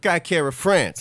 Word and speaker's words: Kai Kara France: Cobra Kai Kara France.